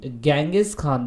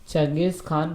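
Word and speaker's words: Genghis Khan: बार बार नहीं बोलूँगा, इसे हिंदी में चंगेज़ खान बोला गया है, इंग्लिश में इसे गेंगिस खान बोला गया है। तो कैसे भी प्रोनाउंस कर सकते हैं आप, कोई दिक्कत नहीं है, ठीक है ना।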